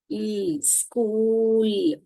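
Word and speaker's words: school: तो यहां पर स्क ये स हुआ ये क हुआ ये उ हुआ और ये इल स्कूल स्कूल ये डबल ओ भी मैंने आपको जब मैंने सीखे और के बताया था।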